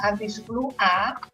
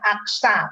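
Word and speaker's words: anti-Xa: Nah, kalau kita memeriksa aktivitas anti-10A, ini kadang-kadang klinisi salah baca ya. Dia bacanya AXA, padahal kan anti-10A.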